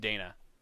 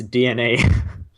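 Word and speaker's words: DeNA: want to pronounce it i'll tell you how to pronounce it it's dna really yeah of course it is i don't know why i even bothered saying the e hey hey occam's razor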